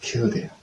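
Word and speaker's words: Kildare: Maybe we could try to say that killed there. The word is killed there.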